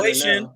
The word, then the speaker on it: Wei Shen: I brought up the fish thing too, but like Wei Shen or whatever. I'm sorry, I don't know how to say this guy's name. No, you got it. Wei Shen.